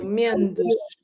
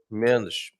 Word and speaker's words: Mendes: vowel sound after words, then you're going to pronounce it as a sh. So Mendes. Mendes.